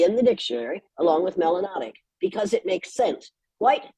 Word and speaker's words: melanotic: system you must be melanotic which rhymes with exotic and is in the dictionary you can't tell me that her ass ain't still a third grade got damn pizza melanotic and it rhyme with